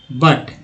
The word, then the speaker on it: but: देखिए यू का उच्चारण की बात करते हैं, तो PUT, पुट, और BUT, बट। यहाँ पर यू जो है बड़ी छोटी यू के रूप में उच्चारण हुआ पुट में, जबकि बट में अ के रूप में उच्चारित किया गया।